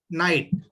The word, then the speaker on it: knight: Knight. K-N-I-G-H-T. K is silent.